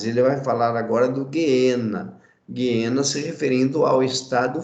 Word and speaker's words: Geena: Guiena, essa é a palavra grega, essa é a pronúncia Guiena, tá? Alguns pronunciam Geena, mas a pronúncia correta, quando você translitera do grego para o português, a pronúncia correta é Guiena, ok?